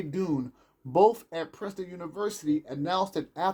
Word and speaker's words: Dunne: And Dune, which is spelled Dunne, they found that through mental concentration family.